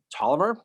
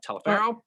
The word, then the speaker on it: Toliver: was another commander guy i'm william toliver not telephone right i know i was